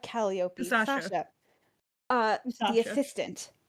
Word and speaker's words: Calliope: Sasha, and she goes, John, it's pronounced Calliope, not Calliope.